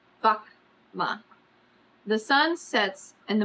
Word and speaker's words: Vaka'ma: the craft a VMA pronouncing it as syllables VMA the sun sets and